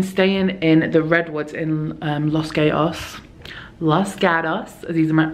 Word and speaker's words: Los Gatos: gatos these are my I sound Australian when I say it was like les Gatos oh I thought Australia and Jenny but like these Americans say lost cows for two nights and